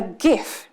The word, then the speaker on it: GIF: GIF wars, where you're in the, it's pronounced GIF, when you're in the middle of a conversation